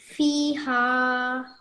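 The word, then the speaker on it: فيها: It will still be pronounced as fiha, not fi. Okay? Okay. So A5127, that's what you did wrong. You said fi. It's meant to be fiha, even if you're stopping here, okay?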